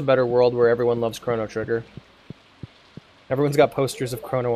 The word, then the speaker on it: Chrono Trigger: worlds the problem is whenever I say Chrono Trigger I oftentimes add an extra syllable and call it corono trigger and it just drives